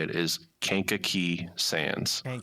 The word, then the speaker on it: Kankakee: So, uh, the way us locals say it is Kanka Key Sands.